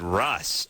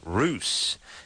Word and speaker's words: Russ: our MIT professor over there in Boston David Russ I should save ruse david ruse from Seattle so he'll be coming